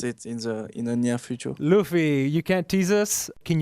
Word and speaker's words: Luffy: Is it pronounced Luffy or Luffy?